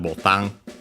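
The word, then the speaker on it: ボタン: And also, by the way, is unaccented botan. Yeah, it's actually from Portuguese, botão. Botão with the nasal, and so yeah, you can see why then it became botan in Japanese.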